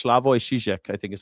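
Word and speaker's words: Slavoj Žižek: Slavo, I think it's Slavo Shijek, I think is how you say his name.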